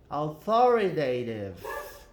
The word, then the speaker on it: authoritative: Então, a sílaba mais forte é aqui. Authoritative.